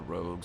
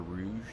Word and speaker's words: Rouge: of the Rouge school which I read is Rogue sometimes I'm inclined to call it the Rogue school but it's obviously the color Rouge that's how it's spelled yes as time goes